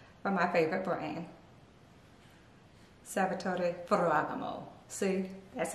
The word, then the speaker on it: Ferragamo: my favorite sandals for my favorite brain sabota furragamo see that's how you say it last but